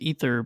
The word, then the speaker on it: Aether: or is it just either I think the the official word is pronounced ether but it's been pronounced